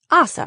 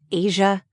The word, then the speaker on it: Asa: Now it's Assa, right? Am I pronouncing that correctly? Yes, I replied. You pronounced it perfectly. My whole life this was something I struggled with. Asa, Asa, Asia.